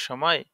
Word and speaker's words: ث: তার মানে সদের উচ্চারণ করার সময় সার মতো উচ্চারণ যেন না হয়, সা উচ্চারণ করার সময় সিনের মতন উচ্চারণ যেন না হয়, এটা আমাদের খেয়াল রাখতে হবে।